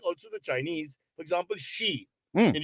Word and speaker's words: Xi: Okay, we don't know but I think also the Chinese for example she Mhm. in Xi Jinping is spelled XI but it's SHE.